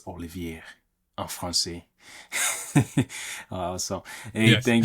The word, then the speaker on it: Olivier: name at the beginning it's not Oliver it's Olivier France Al so hey